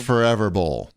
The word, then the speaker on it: ForeVR Bowl: which is as you that's spelled f-o-r-e-v-r forever right but it's pronounced forever bowl and it's a bowling